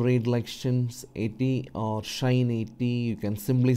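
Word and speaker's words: sinh: read sign cost and it becomes like shiny harsh tension and that's actually the right way to pronounce this some people called sin sex or something like that okay it's up to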